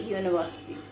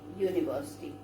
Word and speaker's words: university: Actually the pronunciation is Y-O-O.